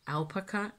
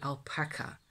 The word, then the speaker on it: alpaca: English that it we we say alpaka in Dutch in English the people like here use the term will'll say alpaca probably because that's the stress that so the the stressed syllable in the word that it gets in